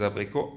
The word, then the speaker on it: abricots: Une tarte aux pommes, à las manzanas et une tarte aux abricots, a los albaricoques, ¿vale? Abricots, albaricoque no se pronuncia abricots, se pronuncia abricot.